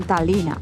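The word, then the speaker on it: Tallinn: en tayín o tallina aquí se escribe tallina pero yo creo que no se pronuncia la l me da a mí que dicen talina o t talina es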